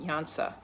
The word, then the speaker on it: Iansa: That it's Iansa, pronounced Iansa, and she is the Orisha of storms and thunder and lightning and literally the winds of change.